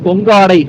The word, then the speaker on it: கொங்காடை: ஸோ இந்த ரோடுடைய கடைசி கிராமம்ன்றது கொங்கடை தான். எனக்கு தெரிஞ்சு இந்த பஸ் அங்கேருந்து தான் வருதுன்னு நினைக்கிறேன். இங்க இருந்து வந்து அந்தியூர் வரைக்கும் பஸ் சர்வீஸ் இருக்குதுங்க. இதோடைய சரியான உச்சரிப்பு வந்து கொங்காடை அப்படின்னு சொல்றாங்க. கொங்காடை.